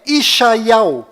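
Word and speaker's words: ישעיהו: ficou bem claro que a verdadeira pronúncia do nome de Isaías em hebraico legítimo em Israel é isal então para ficar bem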